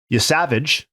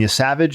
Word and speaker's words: Yesavage: Um, Yavage, I believe that's how we're pronouncing it.